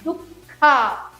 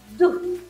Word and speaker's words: Dukkha: For example, Dukkha. It is not Duk.